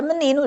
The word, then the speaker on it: menino: Temos como exemplo a palavra menino. Já viram? Menino. Como é que nós começamos a contar? Da direita para a esquerda. A última sílaba, penúltima, antepenúltima. Então, onde é que nós lemos com maior intensidade, com mais força? É na penúltima sílaba.